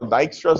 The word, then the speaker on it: Dijkstra: One of the most popular ones is called Dijkstra's algorithm. That's how you pronounce that name. Yes, I believe you is Dutch, and that's why that J gets pronounced like that.